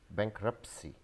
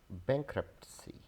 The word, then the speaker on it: bankruptcy: Many people pronounce it as bankruptcy. So there has to be a t sound also, like the t sound in pizza. So we call it bankruptcy, bankruptcy, bankruptcy.